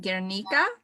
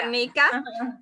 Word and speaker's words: Guernica: I'm not sure if I'm saying this right, Guernica? Are you, yes. How do you say it? Yeah, the Guernica. Guernica.